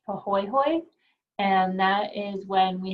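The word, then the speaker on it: pāhoehoe: to know so the these are both Hawaiian terms so the first one is pronounced pohoy and that is when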